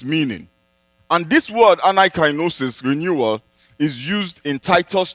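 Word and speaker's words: anakainosis: Now, the word renewal in the verse we have just read comes from a Greek word that is pronounced anaikainosis.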